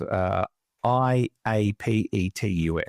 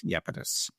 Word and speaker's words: Iapetus: It's spelled Iapetus, Iapetus.